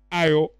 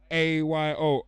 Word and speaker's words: Ayo: Yeah, this is a girl, this guy goes by the name of, I hope I'm saying it right, it's Ayo. That's how we say it back home. A-Y-O, Ayo. Get on shit with dude.